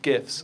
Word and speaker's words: GIF: um and specifically animated gifts and so as you can tell from what I just said I use a hard G um but really does